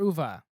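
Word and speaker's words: Uwe: is a big now is it uve or UVA that's a great question I always pronounce it UVA because that's cool that's the way you normally do the E depending on your type of German probably is UVA that's what I always say uvae is just what we're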